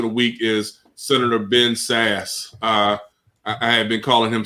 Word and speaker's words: Sasse: My gangster of the week is Senator Ben Sass. I had been calling him Sassy by mistake.